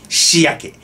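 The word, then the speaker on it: 初宿: 初宿と書いて、しやけ。これ知ってないと読めないなぁ。初宿って読んじゃうよね、普通に。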